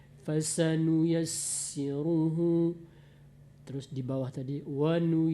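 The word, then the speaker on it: فسنيسره: Seperti tadi pasanu yassiruhu, sin kalau bertasdid Bu, dia banyakkan saja anginnya. Fasanu yassiruhu, terus di bawah tadi wanu yassiruka atas nama sin tasdid.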